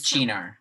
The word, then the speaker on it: Cynar: It is Chinar, yeah. Cinar, it's the same. It's pronounced Right. Chinar because it's Yeah, oh yeah, Italian.